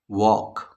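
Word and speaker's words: walk: हो गया आपका साइलेंट वॉक इसमें आप ध्यान से देखेंगे तो एल गायब है डब्लू ए एल के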